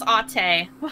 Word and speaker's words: Ate: I read that as ate. So, I mean, I'm not any good with languages either. Ate. Oh, I was right.